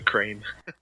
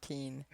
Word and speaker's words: Keane: coffee say I wish my name was crane I said I'm sorry I must have mispronounced it Keane I apologize Keane thank you for hanging